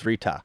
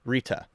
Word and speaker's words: Rta: Dharma exists because the universe is governed by Rta, which is spelled RTA, but pronounced like that one lady down the street in Jersey.